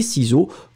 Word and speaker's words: ciseaux: Et puis vous mettez le X à la fin des ciseaux, que bien sûr vous ne prononcez pas.